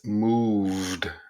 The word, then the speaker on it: moved: It's not moved, it's moved, and you have to pronounce that V with the T sound.